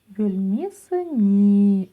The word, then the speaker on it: бөлмесіне: Палочка с точкой – это нечто среднее между буквами «ы» и «и» и произносится очень мягко и кратко.